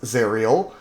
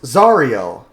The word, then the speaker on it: Zariel: American or British yeah if she was an American person her name would probably be pronounced zerel but it's pronounced zarel and names are pronounced